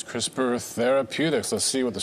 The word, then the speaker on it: CRISPR: There's no E in there, but I'm assuming it's pronounced CRISPR.